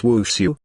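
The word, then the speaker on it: 武术: know dances tl note martial arts is pronounced in chinese as wushu and dance is also pronounced as wu hahaha sitting behind him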